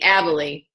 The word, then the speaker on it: Abele: It's Abele. Abele. I just call you Abel. That's fine. Everyone does. Abele is a senior Ruby